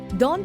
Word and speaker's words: daunt: were less than successful Dawn rhymes with haunt another word which means